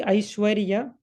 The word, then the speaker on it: Aishwarya: Similarly, Aishwarya, how to pronounce? Aish is 1. Svar, Aish is 1, then Var, Ya. Aish, Var, Ya.